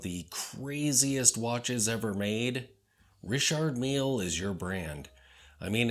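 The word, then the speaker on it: Richard Mille: Richard meal first off be sure to pronounce it correctly because Richard Mill is so pedestrian so remember it's Richard meal you beige loser if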